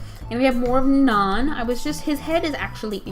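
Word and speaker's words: Na'an: His name is Naan, like the naan bread you could get at an Indian restaurant, only his name is spelled N-A apostrophe A-N.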